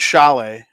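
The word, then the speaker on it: Šalé: And I think Edward Shalet, it's spelled like Sale, the captain of team Czechy, has just been unbelievable.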